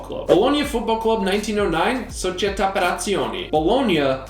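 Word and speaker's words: Bologna: bolognia football club 1909 bolognia not baloney founded in 1909 by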